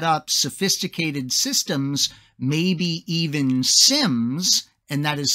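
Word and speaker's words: SIEM: helping them set up sophisticated systems maybe even sims and that is spelled s-i-e-m which is going to be a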